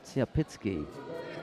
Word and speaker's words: Tsiapitsky: I know that it looks like a U, but I think that the pronunciation is slightly different with the Belarusians. So I think that's Vladislav Tsiapitsky of Belarus to face Galimzan Krikbey of Kazakhstan.